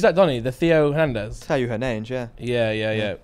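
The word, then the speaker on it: Theo Hernández: Teo Hernandez, yeah.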